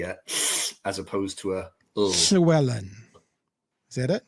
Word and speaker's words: Llewellyn: So the the double L at the beginning L on their name would be a as opposed to a shellan. Is that it? Shellan.